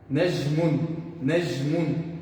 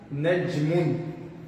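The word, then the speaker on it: نجم: Tem pessoas que pronunciam nejm, ou seja, com J no português, mudo. Nejmun, dessa forma. Mas o correto, o clássico, najmun, com nejm, dessa forma.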